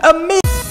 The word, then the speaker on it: Ame: her short inform me and me and not Ahmed if you're calling your ah man you might as well call her a mom and Amelia Watson but no one calls her Amelia Watson they call her Emilia Watson so why on Earth are you pronouncing it as Ahmed when it's in fact a me foreign